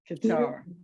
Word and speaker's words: Keter: That's pronounced Keter? Qatar. Qatar. Thank you.